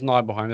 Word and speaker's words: Nibelheim: Is it Nibelheim? It's Nibelheim. I mean, that's how you pronounce it.